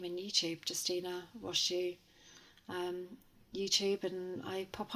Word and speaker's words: Rosu: have to search my name in YouTube Justina wasu um YouTube and I pop up that's very easy your your surname is spelled r o s u just for anybody